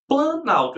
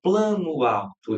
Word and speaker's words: planalto: Só que se você perceber, eu não pronuncio plano alto, eu pronuncio planalto. Então, teve perdas fonéticas. Aí as palavras não ficaram iguaizinhas, uma ao lado da outra, não. Eu perdi som.